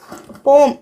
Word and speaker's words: poem: போம் அப்படின்னு ப்ரொனவுன்ஸ் பண்ண சொல்லியிருக்காங்க.